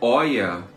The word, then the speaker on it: Hoya: A pronúncia certa é Oia.